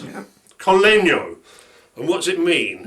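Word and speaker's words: col legno: Sharon will say if I pronounce that right. Yeah. Collegno.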